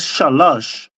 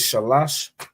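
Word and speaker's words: שלוש: right you notice okay well three is what three is shalash shalash three is shalash third is Shalay so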